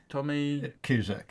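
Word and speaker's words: Tomasz Kuszczak: Yeah, but have a go trying to pronounce his Just name. have a go. Thomas Do you know it, Paul? Tommy Cusack. Cusack.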